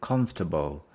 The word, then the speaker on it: comfortable: we we have adjective comfortable comfortable do you think clothes should be comfortable or fashionable do you think clothes should be comfortable or fashionable comfortable come we stress on the first one comfortable comfortable comfortable then